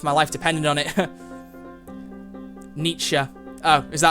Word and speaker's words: Nietzsche: Nietzsche. Oh, is that how you pronounce it, Nietzsche?